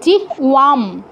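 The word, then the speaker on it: জিহ্বাম: বাম নয়। জিহ ওয়াম। ওই যে ওয়া এটা তো বয়।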